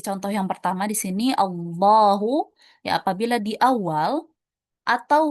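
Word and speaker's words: الله: Kalau lafaz Allah dibaca tafkhim atau tebal itu cara bacanya. Dah ya bukan lah tapi d Allahu huwallahu ayatullahi ya dibacanya tebal.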